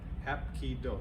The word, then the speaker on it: Hapkido: Hapkido, 3 syllables.